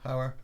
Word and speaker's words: Hauer: Hauer or Hoyer? Hauer.